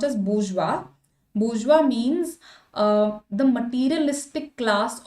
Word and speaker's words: bourgeois: This is pronounced as bourgeois.